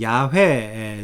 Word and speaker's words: 야훼: 어 2 그래서 함부로 원래 이제 히브리인들이 주로 불렀던 발음은 요 이제야 회입니다 야외 왜 하나님이 세 요 하나님의 거룩하신 이름은 야훼 세요 아 그런데 이거를 막